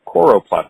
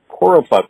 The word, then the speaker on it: choropleth: this one's really cool it's the coroplast layer and waist mispronounce it the choropleth layer you can say I